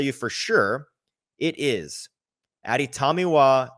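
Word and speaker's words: Adetomiwa: I can tell you for sure it is Aditamiwa Adibare.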